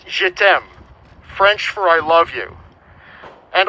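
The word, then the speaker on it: je t'aime: she signed j e t apostrophe m it's pronounced jedem for i love you and also it roughly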